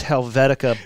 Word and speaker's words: Helvetica: Helvetica don't you dare say it wrong it's Helvetica bold you son of a pellet well twelve